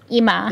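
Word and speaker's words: Immah: IM i m i m m a h IMA IMA got to you got to pronounce it like that I kind of I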